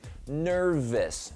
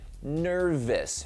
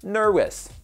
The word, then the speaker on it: nervous: 确的念加在一块念 nervous，再听一遍 nervous。如果这个震动没有念出来，就被你念成 nervous， nervous。